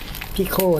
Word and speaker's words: Pico: กล่อง ตัว Raspberry Pi พิโค นะ ครับ อ่าน ว่า พี่ โคตร ที่ โค นี่ แหละ ตอน นี้ ก็ ซื้อ